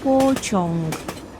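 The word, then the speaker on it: pociąg: а скажемотро тролейбус тролейбус потяг - це польською почонг почонг почон потяг так потяг поїзд тільки пам'ятаємо що слово поязд - це транспортний засіб А почонг - це поїзд таксі скажемо таксувка таксувка таксувка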